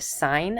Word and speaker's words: sine: parents or anyone else, please don't ever say the sin of x. We still pronounce it the sine of x.